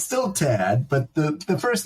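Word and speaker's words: Tadt: yeah t Tad's identical cousin it's it's still Tad but the the first name is spelled differently yeah H in it no it's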